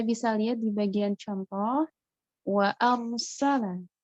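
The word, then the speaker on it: وَأَرْسَلَ: Nah, kita bisa lihat di bagian contoh wa arsala. Ro di sini dia sukun, tapi dibaca tebal karena sebelumnya harokatnya fathah. Jadi bacanya ro walaupun sukun tetap tebal, tetap tafkhim.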